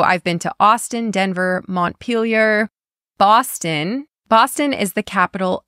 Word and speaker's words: Montpelier: Next, we have Montpelier.